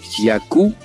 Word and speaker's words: yaku: Les mots quechua sont accentués sur l'avant-dernière syllabe. Par exemple, nina qui signifie feu, wawa, bébé, yaku, eau.